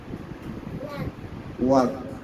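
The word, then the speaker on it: walk: ওয়াক।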